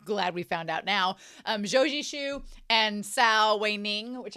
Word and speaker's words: Zhou Zishu: I found out that I've been saying Zhou Zishu's name wrong the entire time, but glad we found out now. Zhou Zishu and Sao Wei Ning, which I should just call him Wei Ning.